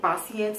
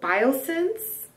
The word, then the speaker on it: Biossance: quickly before we continue I am pronouncing this tote wrong it's b i o biosense biosense I don't know where I got the other way of saying it but anyways squalene copper